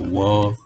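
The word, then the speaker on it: water: 있죠 그러니까 월요일이라고 하지요 미국식 발음이 있어서는이 t는 묵음입니다 t는이 발음을 하지 않아요 그래서 워로 이렇게 하는 거죠 그러면이 물은 이렇게 구성이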